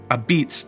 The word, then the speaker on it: Apizza: In New Haven, it isn't pronounced the way it's spelled. Ah-beetz didn't come from marketing.